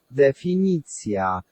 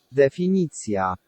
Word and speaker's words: definicja: Take off the shun and we've got defini. As in elephant and I as in ski, so we're all good. Definicja. Definicja. If we talk about fiction,